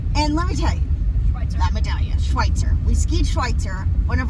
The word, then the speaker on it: Schweitzer: guess where we are it rhymes with schnitzel it actually does it it doesn't matter schnitzel we just got to Schweitzer and it's amazing it's